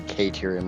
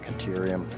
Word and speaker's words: Caterium: I don't I like my brain just automatically goes to Karium, not Caterium.